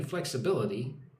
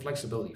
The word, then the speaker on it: flexibility: Is there any flexibility on the price? Look at the word flexibility. Flex bill. Flexibility. Put some emphasis on the first and third syllable.